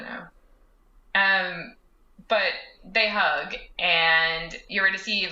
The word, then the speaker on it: Eurydice: Eurydice?